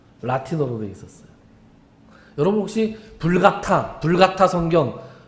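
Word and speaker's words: Vulgata: 그 구약 히브리어와 헬라 신약을 라틴어로 번역한 게 이 불가타, 라틴어로는 불가타고 영어식으로는 벌게이트라고 읽습니다.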